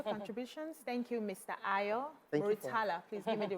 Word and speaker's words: Murtala: Ayo Murtala. Please give me the right pronunciation.